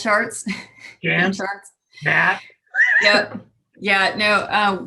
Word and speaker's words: Gantt: Do you use, oh, I always mispronounce this. Is it Gantt charts? Gantt charts.